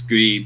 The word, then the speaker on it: Gris: It's Gris because that Spanish is gray.